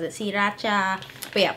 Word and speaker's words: Sriracha: Technically, it's pronounced Sriracha in Thai with the accent. That's how my mom says it, Sriracha. But yeah, Sriracha.